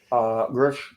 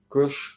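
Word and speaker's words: Grusch: Grush, I believe it's Grush, pronounced like Bush, Grush, that is non-trivial and is a good thing.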